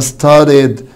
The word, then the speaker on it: started: طب started برضو بعد الده ساوند الاي دي اد فبالتالي هقول هنا started يعني ذاكرة. طب washed هتقولي نطق التا عشان بعد الشه ساوند فتبقى washed.